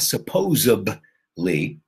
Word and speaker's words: supposedly: So it's not supposedly.